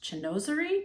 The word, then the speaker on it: chinoiserie: So this Oriental, Asian, and then I've just learned the word that I'm not gonna be able to pronounce, chinoiserie.